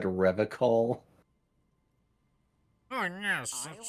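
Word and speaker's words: Revachol: I've been tempted on occasion, but someone has to stay strong for Revacol. I hate this man so much. He pronounces Yeah. Revacol with a hard K, unlike other people. You said Revacol?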